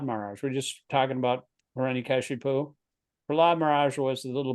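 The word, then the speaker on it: Hiraṇyakaśipu: Hiranyakashipu, S with the slash above it is pronounced SH.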